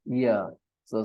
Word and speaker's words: years: Okay, don't start with E. I know all your life you have pronounced it with E sound. You think ear. Actually, when you write it in Hindi, you write with E. That's the problem. But there is a Y there.